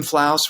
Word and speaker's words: Flauaus: I'm Jim Flauaus, rhymes with house.